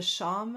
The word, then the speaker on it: shawm: So the oboe, I think the ancestor is called the sham. Am I pronouncing that right?